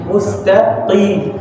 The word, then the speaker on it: مستقيم: Kemudian tadi untuk huruf shadnya itu tetap ditebalkan meskipun harakatnya qaf, dan untuk qaf dari mustaqim jangan sampai kita membacanya dengan kaf. Jadi ini qaf mustaqim.